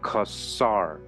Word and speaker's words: Khazar: either Kazar or Cesar is pronounced like the first syllable of custom with the words kasar added onto it it is correctly pronounced kasar the Jewish encyclopedia has